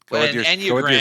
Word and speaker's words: Enneagram: Enneagram, because I think that means 9. The ennea.